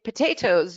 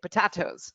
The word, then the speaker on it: potatoes: You can definitely say potatoes, you cannot say potatoes.